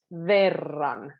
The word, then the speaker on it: verran: So V sound is quite soft, but because there's an R kind of following it, verran, verran.